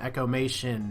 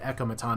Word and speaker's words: Echomaton: Echomation. There's no ION, but Echomaton is how I'm going with it.